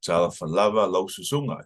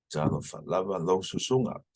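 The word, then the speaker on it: Talofa lava lau susuga: Tala falava lo susunga. So you can see how I emphasize those. So emphasize those because that's generally the accented sounds, or some people say the accent.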